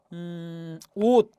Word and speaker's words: 옷: 예컨대 여러분 옷, 그죠? 예, 옷의 실제 발음은 여러분 오스가 아니라 옷하고 디귿으로 바뀌죠. 예, 음절 끝소리 규칙에 의해서 실제 시옷이 디귿으로 교체가 돼 버립니다.